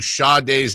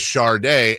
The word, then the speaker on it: Sade: the A and the D, thus leading to Sade's name being popularly mispronounced as Shardae, and it's almost its own little.